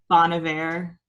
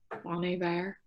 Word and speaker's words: Bon Iver: Bon Iver. Bon Iver.